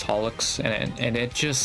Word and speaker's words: holoX: I still can't take him seriously though because the like Japanese um freaking like pronunciation is holox and it and it just sounds like a freaking cleaning product to me, man.